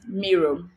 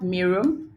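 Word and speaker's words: Miro: to analyze your data one of which is mirror mirror is spelled m-i-r-o m-i-r-o so basically it's just a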